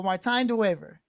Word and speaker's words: Martijn de Wever: let's make sure I the last name is the daver right so Martin daver yeah that's brilliant listen uh it has been such a long time ago that anybody pronounced my name correctly so I'm very pleased